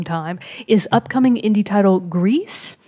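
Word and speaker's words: Gris: is upcoming indie title grease which is spelled the French way of gr is which means the color gray in French I won't tell you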